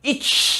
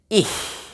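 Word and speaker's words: ich: ya biasanya bacanya Pak each ini bukan each badannya tapi kalau kalian lihat ini bacanya apa Ih bener jadi Ih jadi cuma kayak kayak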